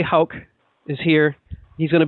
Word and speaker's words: Hauck: the show uh please I think I only messed up your name but I'm going to say it right this time Dr hul is here he's going